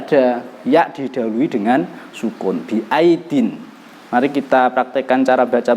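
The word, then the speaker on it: بِأَيْدٍ: ya didahului dengan sukun biaidin. Mari kita praktekkan cara baca bersama-sama. Bismillahirrahmanirrahim. Was-samaa'a banainaha biaidin wa inna lamusi'un. Jangan dibaca biai atau biai, jangan, cepat saja.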